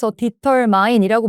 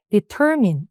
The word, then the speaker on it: determine: 이게 그냥 파닉스 그대로 디털마인이라고 많이 읽으시는데 일단 강세가 요게 있습니다. 그래서 발음 determine 읽으시면 돼요.